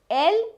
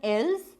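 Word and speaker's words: elles: Il is he, elle is she. Nous is we, vous is you, same as aap in Hindi. This pronunciation is not ils and els, it is il and el.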